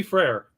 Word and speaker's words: Frere: So I think that the value pick is his last name Frere. Is that how you say it? Yeah, Petit Frere.